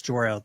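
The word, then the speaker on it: Jor-El: It's Jorel.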